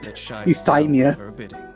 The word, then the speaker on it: euthymia: So that's how you pronounce that, euthymia. It was the Way Raiden too much Shogun bounce there.